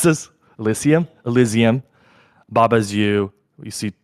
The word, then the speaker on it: Elysium: Oh, Julian, how do you pronounce this? Elysium.